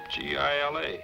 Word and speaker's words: Gila: Why didn't you tell me it was spelled with a G? G-I-L-A, Gila.